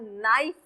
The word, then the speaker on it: knife: मैंने नाइफ इसलिए लिखा क्योंकि हम कनाइफ नहीं बोलते, हम नाइफ बोलते हैं. क्या बोलते हैं? नाइफ. दिस इज साइलेंट, के इज साइलेंट.